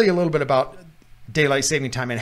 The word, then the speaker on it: daylight saving time: Well, the first thing I want to say is there's no S in daylight saving time. Yep. Yeah, I just found that out. I always assumed that it was daylight savings time. Yeah, you say it wrong.